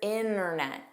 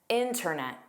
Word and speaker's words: internet: Just know it is common to hear both. Yes, some speakers drop it, including myself. Sometimes I pronounce it. There's really no reason why, so get comfortable with hearing both.